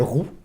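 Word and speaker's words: Rue: plus le nom, ouais, c'est ça, qui joue le rôle qui s'appelle Roux, R-U-E, ça s'écrit, donc c'est marrant, c'est Roux comme nom, ça se prononce Roux, c'est rigolo.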